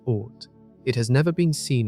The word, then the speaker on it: Oort: Far beyond the planets lies the uncertain outer region known as the Oort Cloud, pronounced Oort.